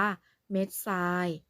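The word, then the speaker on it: เม็ดทราย: นะ คะ เส้น คำ ว่า เม็ด ทราย จัด ทอน เนี่ย ให้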